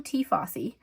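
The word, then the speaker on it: Tie Fossi: But so this is from T. Fossey. I'll link it down below because it's not spelled like it looks.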